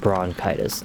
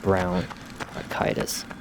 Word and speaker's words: bronchitis: I think it's pronounced bronchitis, not bronchitis.